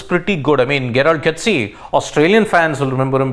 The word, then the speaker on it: Coetzee: I mean, Gerald Coetzee, Australian fans will remember him because he's put Travis Head out for half the World Cup.